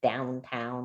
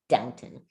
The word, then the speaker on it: Downton: i was like wait isn't it downtown like now it's downton good okay so everybody